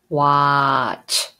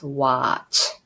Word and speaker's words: watch: you know CH sound watch so this T is silent is watch for visit short I